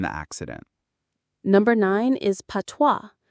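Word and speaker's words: patois: Number nine is PWA. P A T O I S. PWA. The IPA is PWA. The S is completely silent.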